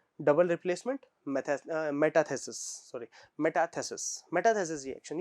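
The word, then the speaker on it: metathesis: और मेथेसिस रिएक्शन, अब यहाँ पे ये बड़ा ही इंपॉर्टेंट नाम है, ये नाम रखने की जगह ये मेटाथेसिस, सॉरी मैंने बोलने में प्रोनाउंसिएशन गलती होगी, मेटाथेसिस रिएक्शन। अब ये नाम बहुत इंपॉर्टेंट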